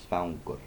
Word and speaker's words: svangur: in Icelandic you pronounce the G's as distinct. So that is not svangur, that is svangur. G. Make sure you pronounce the G slightly, and obviously pronounce the K there.